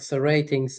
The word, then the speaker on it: Rtings: So ratings, it's spelled Rtings.